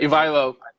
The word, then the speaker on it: Ivaylo: Ivaylo. Ivaylo.